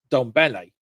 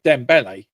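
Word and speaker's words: Dembélé: Dom um Ramos and um Donle is it Donle? Sorry, maybe I'm getting his name wrong. Yeah, Dembele.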